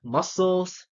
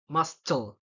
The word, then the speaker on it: muscles: scenar and scenario see I'm not pronouncing the the say word because if I pronounce it I it will be like mustle sissor Fascinate and scenario so it will sound weird you know right it